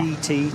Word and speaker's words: Giti: capital G, capital T, and it is pronounced. I checked that with the team at the start of the week. Yeah. GT tyres.